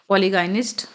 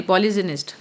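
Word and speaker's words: polygynist: पॉलीगमी मी पॉलीगमस पॉलीग पॉलीगाइनिस्ट sorry पॉलीजनिस्ट नॉट पॉलीगाइनिस्ट पॉलीजनिस्ट यह मैंने word pronounce गलत किया था अ पॉलीजनिस्ट जी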